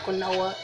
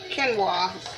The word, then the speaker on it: quinoa: I mean, not quinoa, my quinoa. Quinoa is how it looks like it's pronounced when you look at the spelling of the word.